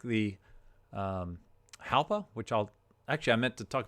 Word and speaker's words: Jalpa: Now, that's kind of like an H instead of a J pronunciation, Jalpa, not Jalpa.